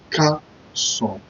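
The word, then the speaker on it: Káàsán: K-E-S-A-N. You pronounce it Carson.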